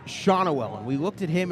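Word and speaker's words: Schanuel: we found out that his name was not pronounced shanual like we had been saying but shawnawell because austin strickland came right up to us right in front of us and said it's pronounced shawnawell and we looked at him and we were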